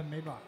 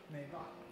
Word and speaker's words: Maybach: The Maybach.